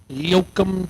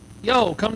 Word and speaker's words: Yoakum: Is that pronounced correctly? Yoakum, Texas. Yo, come to Texas.